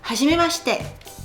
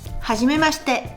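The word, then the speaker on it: はじめまして: Le i ne se prononce pas. Hajim mchet. Hajim mchet.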